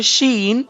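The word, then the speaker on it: ش: your tongue so one you will pronounce this letter sheen so you will use you will put this middle of your tongue with your upper heart palette okay opposite of your middle tongue so then you can pronounce this letter sheen correctly so once again i'm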